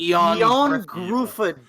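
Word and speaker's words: Ioan Gruffudd: So the guy who nobody can pronounce. Oh, his name is Eon Gruffudd.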